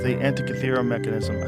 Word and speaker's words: Antikythera: It's the Antikythera mechanism.